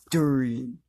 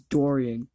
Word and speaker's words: Dorian: My name's Durian. Okay, Durian, you sound like the fruit. No, you said it. I said it wrong. It's Dorian.